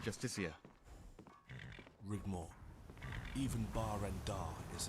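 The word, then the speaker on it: Justiciar: trust this ass clown he's a justice it's pronounced justicia rigmore even bar rendar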